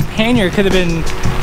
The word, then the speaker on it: panier: And we were discussing how the word panier would have been pronounced, potentially pronounced back then. And you were saying, how? Panier. They would have rolled the R's.